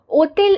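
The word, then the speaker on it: hôtel: से स्टार्ट है और फ्रेंच में एच जो साइलेंट एच होता है जैसे कि यहां पर भी एच साइलेंट है हम इसको ओ तेल बोलते हैं एच साइलेंट रहता है जहां पे एच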